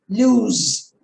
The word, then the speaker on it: lose: the same lose see the first lose osc has got the z sound lose the other one l-o-o-s-e